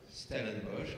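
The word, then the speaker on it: Stellenbosch: conférence à l'université de stenbos se prononce bien stellenbos en Afrique du Sud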